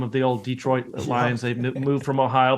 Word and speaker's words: Detroit: them the Detroit Lions you put the accent on the first syllable which is it's not it's certainly acceptable but the Detroit Lines it's kind of old school um look the America